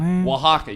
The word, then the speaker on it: Oaxaca: which is spelled o-a-x-a that's Oaxaca you wouldn't think it starts with an O but it does sorry the Sergio from